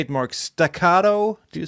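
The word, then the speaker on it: staccato: Stacado. Do you say it like that? Sort of a firehouse thing. Yeah. Stacato.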